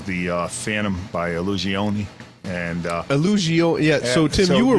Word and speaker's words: Illusione: And Illusioni, so Tim, you were right in the pronunciation of it.